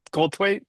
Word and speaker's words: Goldthwait: Goldthwait.